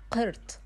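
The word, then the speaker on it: قرط: Earring in the official Arabic, we call it as qirt. Qirt. But in the general Arabic, we call it as hala. Hala. So in the official, we call it as qirt.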